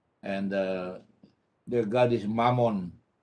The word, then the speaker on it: Mammon: uh their God is Mammon uh which rhymes with lemon you know hello uh